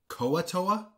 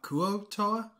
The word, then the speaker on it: Kuo-toa: __ ] hate him he also pronounces them koatoa and not kuotoa which i mean i